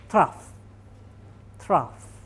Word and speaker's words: trough: This valley is called trough. T R O U G H, not T H R O U G H.